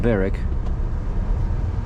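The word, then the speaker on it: Berwick: Yeah, it's spelled Burwick, but pronounced Beric.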